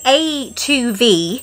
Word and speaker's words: A2V: have a box from I think it's pronounced a to V and it's like craft